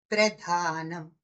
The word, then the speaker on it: ప్రధానం: ప్రదానం అంటే ఇవ్వటం, ప్రధానం అంటే ముఖ్యమైనది. అది మన ఉచ్చారణలో మాత్రం గమనించగలుగుతాం.